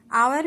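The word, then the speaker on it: hour: एच लिखा हुआ है, लेकिन आवर में एच जो है आपका ये साइलेंट होता है और आपका ये वर्ड किस साउंड से स्टार्ट होता है? ओ से, आवर। ओके, इसे हम आवर पढ़ते हैं, इसलिए यहाँ पे एन का यूज हुआ है।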